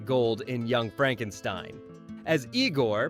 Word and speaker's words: Igor: As Igor, pronounced Iiggore naturally.